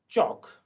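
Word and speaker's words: chalk: चौक, चौक में L silent है, L is silent.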